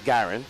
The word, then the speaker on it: Garin: I know his name's Garin, but Garin. I was saying Guerin. His name is Garin. Okay. Right? My bad. But if this was Latin America, it would be Garin Villegas.